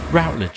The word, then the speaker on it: Routledge: Routledge, I tend to say.